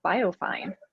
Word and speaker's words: BioFeyn: other fun part about our name is that biofine can be pronounced biofin uh which evokes thin fish so